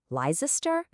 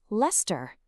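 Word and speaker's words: Leicester: How are you saying that in your head? Lizer, Leester, Go ahead, lock in your final answer. And the correct answer is Lester.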